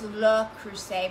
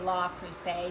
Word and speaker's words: Le Creuset: It's Le Creuset, but I say La Creuset. I say Le Creuset. Le Creuset. because I studied Spanish, not French, and so my French is not great.